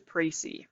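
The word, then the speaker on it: précis: pricey so if you're like how do I pronounce that it is pricey so that's how you say it um the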